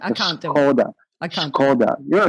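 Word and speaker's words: Škoda: Skoda, it's Skoda. Right. It actually has got S with a little thing on top, all right? So it's a little accent. It's pronounced sh as SH, all right?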